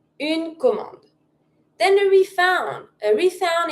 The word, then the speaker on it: commande: If you want to say an order, it's une commande. Une commande. Don't pronounce the last e. Une commande.